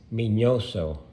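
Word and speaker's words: Miñoso: on the end so his real name is minoso or estes minoso and to tell you a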